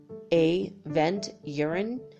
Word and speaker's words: aventurine: are ine basically like a vent urine a the ENT and then urine you are I and II Avenger Ryan or aventurine very beautiful now the next